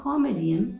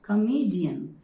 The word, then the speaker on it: comedian: It's not comedian, it is comedian, comedian.